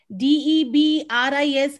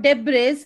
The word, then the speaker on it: debris: wednesday wednesday and forget b-o-w-l is bull and d-e-b-r-i-s is not debris it is debris and the last one is